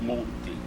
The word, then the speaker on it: Monti: The correct pronunciation is Monti.